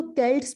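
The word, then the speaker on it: Celts: इनको केल्ट्स भी कहते हैं, कुछ लोग सेल्ट्स प्रोनाउंस करते हैं, तो इनको ब्राइटोन्स भी कहते थे, केल्ट्स भी कहते थे।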